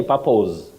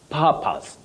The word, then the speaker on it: purpose: Don't say purpose, no, purpose.